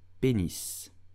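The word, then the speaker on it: pénis: what English called penis but how do you pronounce it in French correctly you will say penis penis penis did you know that you need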